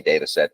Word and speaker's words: Dataxet: And then Dataxet is how I pronounce Dataxet. Is that correct? We say Dataxet, but Dataxet.